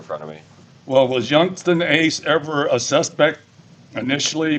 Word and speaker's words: Yungeen Ace: Now, the rap video "Do It" that was done by Yungeen Ace, is that how he pronounces it, Yungeen? Yes, sir.